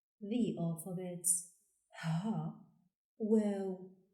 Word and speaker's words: و: The 27th letter is pronounced Waw and is written from right to left with a ring shape above the line, going down, making a semicircle shape. Waw, like in wall.